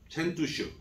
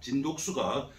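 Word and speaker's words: 陳獨秀: 이 말을 중국에 가져가서 사용하기 시작한 사람이 첸투슈, 우리나라 발음으로는 진독수입니다. 진독수가 중국의 아주 초기 공산주의자였는데 아주 유명한 사람입니다.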